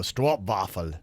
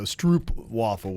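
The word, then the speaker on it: stroopwafel: was like a Str it looks like strw but it would be yeah they pronounce it Str waffle something like that Str waffle Str waffle yes so yeah so Stroop waffle would be how we say in the US so there you go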